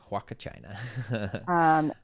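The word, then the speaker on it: Huacachina: china just so you guys can see how it's spelled waka china it is a real place in the world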